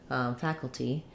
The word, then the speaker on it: faculty: so looking at faculty faculty this is a case where we do say the t faculty um i think